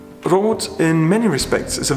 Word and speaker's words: Roth: a little town called Roth spelled with a th but in German th is pronounced like a T brought in many respects is